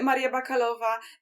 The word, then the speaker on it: Maria Bakalova: And Maria Bakalova, is that how you pronounce it? Maria Bakalova, yeah.